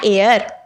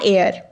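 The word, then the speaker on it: heir: एन एयर, एन एयर, एच से शुरू हो रहा है, लेकिन फिर भी प्रोनाउंसिएशन के बेस पर एन एयर, तो हम एन का प्रयोग करेंगे।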